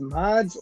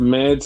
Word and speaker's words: Mads: That's so, you know, is it pronounced Mods or Mads? They said Mads.